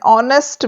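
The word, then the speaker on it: honest: इसी तरह से एन ऑनेस्ट मैन अब ऑनेस्ट एच से शुरू है पर एच यहां पर साइलेंट है और साउंड किससे आ रही है ओ से ऑनेस्ट तो ऑनेस्ट से पहले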